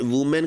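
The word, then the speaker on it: women: यहां पर ए को हमने ई बना दिया, प्रोनाउंसिएशन चेंज हो जाती है।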